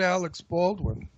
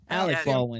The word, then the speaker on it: Alec Baldwin: Yeah, but he worked with Alex Baldwin. Oh, Ron doesn't like Alex Baldwin. Alec Baldwin. Today I'm not working anyway. I give a shit about him. I'm deliberately pronouncing his name incorrectly.